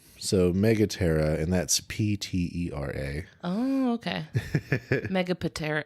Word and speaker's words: Megaptera: So Megaptera, and that's Ptera.